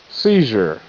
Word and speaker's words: seizure: Seizure. S E C Z R J Seizure. Seizure. E is silent.